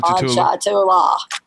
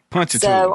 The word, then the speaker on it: Ponchatoula: I'm like Ponchatoula. Yes. Ponchatoula.